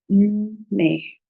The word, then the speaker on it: nne: So in here, when you're pronouncing the double consonant n, so your tongue has to be on the top of your roof, on the roof of your mouth, sorry, and it has to be ne, ne, ne.